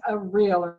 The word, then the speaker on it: areolar: And the one we are going to start with first is areolar connective tissue. So make sure you say that word, areolar. Okay, because if you can't pronounce it, you can't spell it.